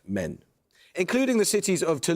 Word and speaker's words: Maine: yes the French depore is pronounced men including the cities of